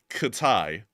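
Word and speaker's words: Китай: China and Russia is called Katai. Not kidding. That's how it's pronounced.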